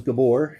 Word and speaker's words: Gabor: My name is Gabor, um Gabor. It's Hungarian. Would you like to spell that for me?